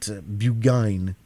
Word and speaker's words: Burgoyne: He pronounced it Bugine, which to my informant used to borrow.